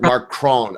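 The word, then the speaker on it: Macron: Um, my French really sucks, but I think it's spelled out M A C R O N. Yeah, it's Mark Mark Cron.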